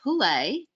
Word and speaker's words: pule: So PULE or PULE is a Hawaiian word. And keep in mind with Hawaiian words, there are many different pronunciations of the same Hawaiian word. And the Hawaiian language, the words themselves have many different layers and interpretations as well. So you might hear some people call it PULE, some people call it PULE. Both of these pronunciations are accepted.